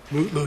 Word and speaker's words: Mutlu: Is it Metloo or Mutlu or how do you pronounce his last name? Mutloo, your honor.